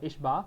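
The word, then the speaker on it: ħ: we often use this one instead we it's pronounced uh h bar people call it h bar and because we do h with a bar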